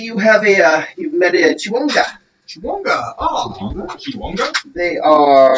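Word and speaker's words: Chwinga: So pronunciation is going to be C-H-E-H. Wing, W-I-N-G, Chiwonga. Chiwonga.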